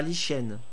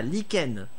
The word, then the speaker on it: lichen: c'était passé profond c'était sûr merde ça se prononce nickel pas les chaînes ah lichen ah oui tu as raison merci tu es